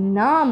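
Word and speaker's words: numb: এটা শুধুমাত্র হবে লিম সিমিলারলি আছে নাম নট নাম এরকম আমরা একটা অনেক ফেমাস গান আছে কিন্তু আই বিকেম সো নাম this is নট I became so নাম তাহলে এখানে এই যে বিটা আছে বিটাকে আমরা বলবো না নাম মানে কি অসার হয়ে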